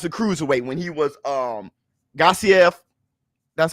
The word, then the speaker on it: Gassiev: Remember how Usyk used to fight, like as a cruiserweight when the Olympics, or as a cruiserweight when he was Gassiev, that's how you say his name, when he was fighting for Undisputed.